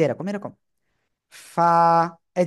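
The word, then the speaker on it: ف: করেন না এই যে নিচের ঠোঁটের পেট উপরের দুই দাঁতের আগার সাথে লাগাবেন লাগিয়ে হালকা বাতাস বের করে এক আলিফ টা নিয়ে উচ্চারণ করতে হবে এই যে এরকম এরকম ফা এই যে ফা ফা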